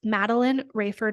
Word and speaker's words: Madeleine Raiford: That's Matteline Rayford.